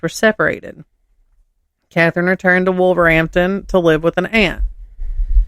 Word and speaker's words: Wolverhampton: Wolverhampton. The H is silent.